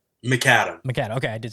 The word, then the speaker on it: Macadam: Macadam.